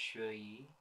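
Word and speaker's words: Xueyi: like a woman so her name's pronounced shoyi this place isn't secure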